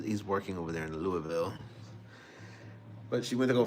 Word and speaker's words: Louisville: I think she just got to Louisville. Louisville. You got to say it like that. Louisville, not Louisville.